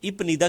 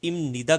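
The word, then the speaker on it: 입니다: movement देनी होती है तो इप निदा की बजाय अगर हम इसको इमनीदा कर दें तो ये बहुत इजी हो जाएगा हमारे लिए क्योंकि बड़ा सिंपल और सॉफ्ट तरीके से आप इसको प्रोनाउंस कर सकते हैं तो बीप नियन से टकरा के मियम में चेंज हो जाएगा तो ये बोला जाएगा इमनीदा इज ए आर एम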